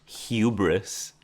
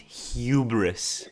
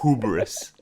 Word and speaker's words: hubris: he has the hubris, which by the way, it's pronounced hubris. That part annoyed me so much. I'm like, it's hubris, not hubris.